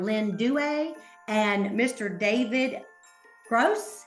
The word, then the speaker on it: Gross: David Gross. Did I say it right? Gross. Okay. Yes, ma'am.